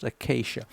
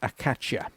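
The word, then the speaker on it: Acacia: up there yes that's how it's pronounced it's pronounced ACAA the number of YouTubers I here pronouncing pronouncing it aacha no it's AAA I don't know whether they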